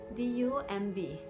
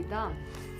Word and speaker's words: dumb: Also, example can be given like dumb, D-U-M-B. If it is to be pronounced along with B, it should be dumb, but B is silent and we pronounce it as dumb.